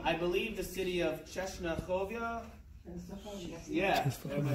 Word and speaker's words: Częstochowa: He's a landsman from, I believe, the city of Czesnachowia. Yeah, am I saying it right? Okay, good. He's from Czesnachowia.